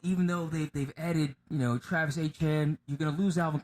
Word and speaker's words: Etienne: He's got a little bit of moxie, so they added Jacksonville Jags running back Travis Etienne, but he says it's pronounced Etienne, for 4 years, $52 million.